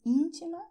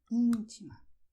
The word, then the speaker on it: íntima: You see, "ÍNTIMA" is stressed here: "ÍNTIMA".